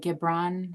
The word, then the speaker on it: Gibran: Um, and Khalil, is it Gibran? I think it's how Yeah. you pronounce his last name.